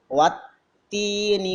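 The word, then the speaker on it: وَالتِّينِ: Bagaimana cara membacanya? Dia ditahan. Wattini wazzaitun. Ada dua huruf, ta dengan zai.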